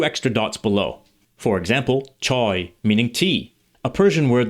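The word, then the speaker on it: چای: For example, choy meaning tea, a Persian word that ultimately derives from Chinese.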